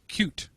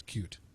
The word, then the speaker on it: Qt: Speedy I am very happy and interestingly it's cute that's how they pronounce it yep cue it's cute um and in the land of lawsuits somebody